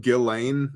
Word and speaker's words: Ghislaine: By the way, I know that it's pronounced Ghislaine, but you spell your name Ghislane.